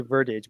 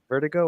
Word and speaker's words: Vertige: I always say Vertige, but it's not Vertige. It's Vertigo or Vertige, I think is what it is. And it's the Vertige sounds more French, so I mean maybe it's Vertige.